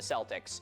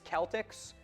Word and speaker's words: Celtic: Celtic with a hard C or K is the standard.